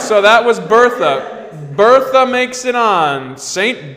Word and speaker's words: Bertha: The response to that is we must pronounce it Bertha. Bertha. Like the French.